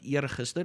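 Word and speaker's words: eergister: word comes from but erguster is the day before yesterday year again those double e sounds ear right and tomorrow the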